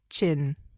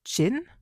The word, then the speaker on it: Jin: Let me see if like Jin Chin. So yeah, it's um written J I N, but it's pronounced Chin.